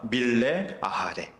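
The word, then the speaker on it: מלא אחרי: 밀레 아하레 라고 발음하는 전심으로 따른다라는 뜻입니다.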